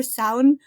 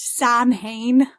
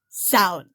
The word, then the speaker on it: Samhain: seem to pronounce it I've heard it pronounced Sam hay by Americans and I'm like I'm but that's two separate words those are two words and that's a name